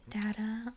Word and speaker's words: data: I would pronounce this word as data. Data. Data. But it is also commonly pronounced data. Data or data.